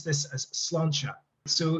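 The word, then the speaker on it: sláinte: i'm like uh but actually this uh you pronounce this as slancha so cilancha is literally it's gaelic it's it's um irish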